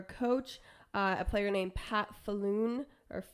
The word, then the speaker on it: Pat Falloon: A player named Pat Falloon, or Fallon. I don't know. It's spelled Falloon.